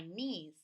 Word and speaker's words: knees: The arrow's pointing to my knees. We need the KN. The K is silent.